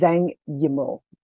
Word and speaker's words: Zhang Yimou: As a person who has a name that is often pronounced incorrectly, it's Zhang Yimou. Thank you. I believe the pronunciation might be Yimou too, but we'll just put it out there since they were mentioned.